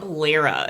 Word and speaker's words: Lara: videos of his wife Laura Lara Lara Lara is how they pronounce ITA God the names in